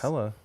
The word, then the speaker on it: Helle: It's Helle Crafts. It's Hella. All right. I bet you But it is spelled Helle.